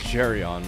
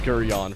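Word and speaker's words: Geryon: I think it's Gerion, right? Like actual official pronunciation. I thought it was Gurion for the longest time like cursed it, but no, it is in fact I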